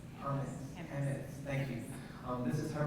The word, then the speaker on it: Hammes: Michelle Hammes, how do I pronounce? Hammes, thank you.